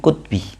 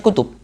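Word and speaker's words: كتب: Bacanya min kutbi. Kenapa kok kutbi? Aslinya kutub. Itu namanya darurah syi'riyah.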